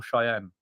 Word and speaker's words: Cheyenne: We stay either Santa Fe or Cheyenne. Oh, well done. You pronounced them correct, you.